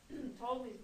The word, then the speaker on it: Ptolemy: And those 5 aspects, conjunction, opposition, trine, square, and sextile, are called the Ptolemaic aspects of Claudius Ptolemy, spelled with a P. P-T-O-L-E-M-Y.